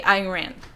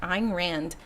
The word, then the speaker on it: Ayn Rand: So I say Ayn Rand, which sounds a lot like Iran.